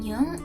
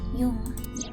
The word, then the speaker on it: Jung: Jung? I didn't know that's how you pronounce that.